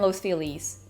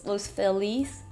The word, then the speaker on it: Los Feliz: So the first part of that, I went to a diner in Los Feliz. Los Feliz? It's spelled Feliz, but it's not.